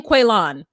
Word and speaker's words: Quaylon: with Chevelle and Quaylon, or he says his name Quaylon. He said Quaylon. Did y'all peep that? So I'm not wrong because his name is spelled Quaylon. So I'm not calling him Quaylon.